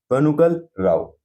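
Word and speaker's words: Benegal Rau: तो उसका सही आंसर होगा आंसर सी, बनुगल राव। ठीक है ना, तो अगर हम पूरी स्पेलिंग की बात करें तो यह है BENEGAL, ना GAL।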